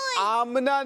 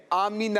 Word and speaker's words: آمینہ: بی بی آمینہ کے پھول۔ دیکھیں، آمنہ نہیں ہے، آمینہ ہے۔ کیا ہے؟ آمینہ۔ ہاں، جب بھی کسی کے سامنے یہ نام لیں، کسی کا نام ہو، تو اس کے تلفظ کا دھیان رکھنا چاہیے۔ آمنہ یعنی میم کے اوپر جزم نہیں ہے، میم ساکن نہیں ہے، بلکہ میم کے نیچے زیر ہے۔ آمینہ کیا ہے؟